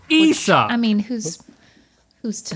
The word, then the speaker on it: Aesop: It's also apparently pronounced Aesop. Aesop.